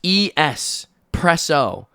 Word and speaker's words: espresso: There's no X. It is just E S preso.